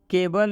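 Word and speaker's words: cable: जैसे सिटीजन में सी का उच्चारण स हुआ है, केबल में सी का उच्चारण क हुआ है, स्पेशल में सी का उच्चारण तलाबे श हुआ है।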